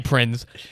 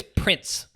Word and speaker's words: Prinze: freddie prinze not great now you're putting a prince on there is that how it's pronounced i believe so do you i've always prints like well it's a z is it a z yeah because i looked it